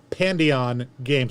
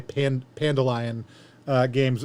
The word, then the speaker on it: Pandion Games: Pandion Games. I keep on wanting to say Pandalion Games.